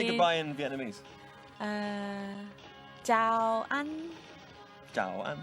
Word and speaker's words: chào: Chào anh. Chào anh. Chào, you just say chào. Chào. Chào. It's like ciao.